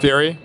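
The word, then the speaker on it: Furi: in 2016 called fury it's spelled Fury yeah it's spelled Fu r i so a little different but uh yeah Fury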